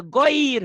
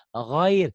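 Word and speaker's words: غير: nikmat alaihim kepada mereka tapi ada gir bukan bukan Apa ghair bukan almagdubi magdubi jalan jalannya enggak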